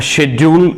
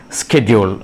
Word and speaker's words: schedule: And it has two pronunciations, and one is a schedule and schedule. A schedule is an American pronunciation, and then schedule is UK.